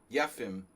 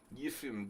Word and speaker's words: Yefim: I mean, you know, you got to say it like a Russian. Yefim Giller.